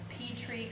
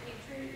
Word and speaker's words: Petrie: I did get the Petrie, or I don't know how to pronounce it. Petrie, yep.